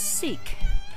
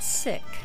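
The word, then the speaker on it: Sikh: we have pronounced SI i k h as seek but they pronounce it sick Ernie beams at me taking a picture of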